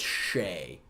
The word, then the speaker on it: Che: It's Shay. Like, as if CHE is pronounced as if there was an SH.